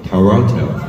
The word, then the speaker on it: Toronto: Toronto Toronto oh somebody somebody told me that Toronto the pronunciation is Toronto many many bre many